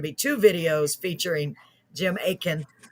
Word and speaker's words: Aitken: two videos featuring jim aitken it says a-i-t-k-e-n but it's not the t is silent aitken not atkin like i've been saying it